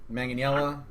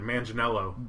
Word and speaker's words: Manganiello: Manganiello. If you just say it like an American, Manganiello.